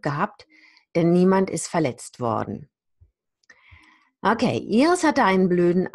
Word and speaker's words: worden: I definitely don't pronounce the R here. I say worden. I just use the R to lengthen the vowel.